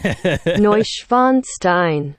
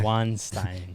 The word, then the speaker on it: Neuschwanstein: Neuschwanstein. Yeah. Neuschwanstein.